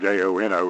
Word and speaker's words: Jono: But I'm pretty sure how to pronounce J-O-N-O as Jono. Not to be confused with an email program that used to be around called Juno.